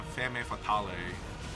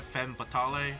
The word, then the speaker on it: femme fatale: Don't worry, I'm a Femme Fatale. Uh-oh. Instead. Or a Femme Fatale? I don't think they pronounce the E at the end.